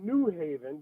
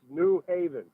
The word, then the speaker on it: New Haven: You're putting the emphasis on the new and not the haven.